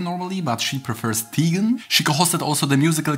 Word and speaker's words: Teigen: Her surname is pronounced Teigen normally, but she prefers Teigen.